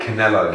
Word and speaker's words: Canelo: How do I pronounce his name again? Canelo.